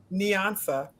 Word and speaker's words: Nyansa: And so now, Nyansa, correct me, say it right. Nyansa goes to college.